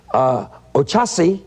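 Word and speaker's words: Oxaci: And he says, Ochasi, that's O-X-A-C-I, is St.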